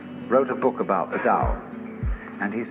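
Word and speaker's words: 道: called the dao tao pronounced dao in the mandarin dialect tao in the shanghai dialect toe in the cantonese dialect take your choice dao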